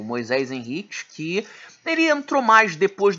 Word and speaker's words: Moisés Henriques: Não adianta se os australianos disserem, não se pronuncia assim, desculpa. O camarada é descendente de portugueses. Eu vou ler Moisés Henriques e acabou. Então não me venham com essa. Eu vou ler Moisés Henriques. É filho de portugueses. Isso, é filho de portugueses, foi batizado por portugueses, então é Moisés Henriques.